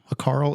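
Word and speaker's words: hákarl: Hakarl, it's an accent on the A, an Iceland delicacy where it's fermented shark.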